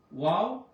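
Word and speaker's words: واو: ওয়াও, হা, ওয়াও, হা। ওয়াও উচ্চারণ করতে অবশ্যই ঠোঁটটা গোল করতে হবে।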